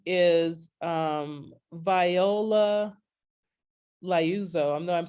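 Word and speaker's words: Liuzzo: never heard of her name is um viola lyouzo i know i'm saying her name wrong l-i-o-u-z-z-o via viola luzo she was a detroit mom she had kids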